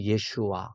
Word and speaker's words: 예슈아: 예수님을 히브리어로 부를 때는 예슈아 그렇게 부르거든요. 그래서 예슈아 원래 발음대로 제가 표현을 했고 그래서 나사렛 사람이 아니라